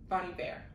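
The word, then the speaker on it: Bon Iver: betty exile is featuring bonnie bear bonnie bear bonnie bear that's how you say his name and it's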